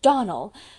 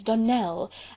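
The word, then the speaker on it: Donnell: you pronounced our name Donal now Miss Shirley the correct pronunciation of our name is Donell Accent on the last syllable I hope you'll remember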